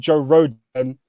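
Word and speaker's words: Joe Rodon: So Tottenham centre back is called Joe Rogan, which rhymes with Joe Rogan, and podcast.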